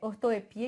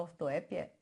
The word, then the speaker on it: ortoepia: Que é da fonologia, que é ortoepia, inclusive pode falar ortoépia, então ortoepia ou ortoépia, né? Que aí, tá vendo? Tem dupla pronúncia e a prosódia, né?